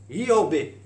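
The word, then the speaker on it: איוב: Dans la langue originale, il se prononce Yobé.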